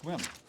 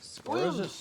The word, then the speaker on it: Sequim: Okay, now we're just Squim. It's okay. Squim. Squim? Well, yeah, we don't pronounce the E.